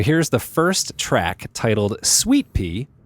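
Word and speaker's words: Suite-Pee: So here's the first track, titled Sweet Pea. Take note that sweet is spelled S-U-I-T-E and P is spelled P-E-E.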